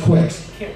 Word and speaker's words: Qix: Pronounce kicks, though, I think. Yeah, I think so too. But anyway, I say Quicks just to make sure that you know it's not Kicks with K-I-C-K-S.